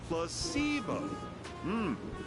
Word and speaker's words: placebo: Repeat after me. Placebo. The stress is on the middle syllable.